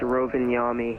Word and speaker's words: Rovaniemi: that F 671 good it's renami just roll your R renami yes sir renami